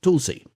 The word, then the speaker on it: tulasi: To begin with the basil plant oimum sanctum is commonly called tulasi pronounced tulsi.